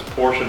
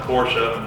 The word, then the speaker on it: Porsche: or Porsche, one guy, you mean Porsche? I'm like, he used to have a shirt that said Porsche. It's a 2-syllable word.